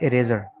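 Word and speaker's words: eraser: इसके बाद इरेजर। कि इरेजर, इसका ई साइलेंट नहीं है, ये पूरा बढ़ जाएगा इरेजर।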